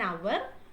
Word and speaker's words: hour: Our h is silent. Okay. So an hour.